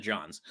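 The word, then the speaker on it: Jonze: spicy no no no no names you he pronounces it john's wait okay all right wait wait wait wait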